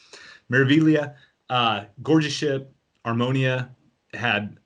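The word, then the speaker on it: Meraviglia: spectacular i've been on mareviglio which is beautiful i know i keep pronouncing it wrong i don't know why in italian at g is silent it doesn't make sense to me but miravillia uh gorgeous ship harmonia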